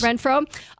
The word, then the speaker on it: Renfrow: Renfrow, is one step closer to an NFL comeback after sitting the 2024 season out.